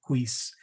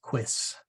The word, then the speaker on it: quis: me saying quies occasionally it is not queece but it is quis so um if I